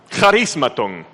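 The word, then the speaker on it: χαρισμάτων: Acuérdese que la ch es como una j con carraspera, ¿ya? Charismatón, así se escribe.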